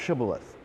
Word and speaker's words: Shibboleth: lot of fluidity but whether a word is pronounced with the SH or an S and so in some